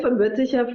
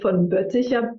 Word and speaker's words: von Boetticher: von Boetticher, yes. So I usually try to pronounce the von Boetticher pretty German, because that's the German part, and the more French because it's the Haitian name.